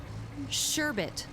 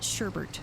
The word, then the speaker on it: sherbet: Sherbet. Sherbet. Sherbet? Sherbet. Sherbert. Sherbert. How do you pronounce it? How do you... It's sherbet. That's spelled sherbet.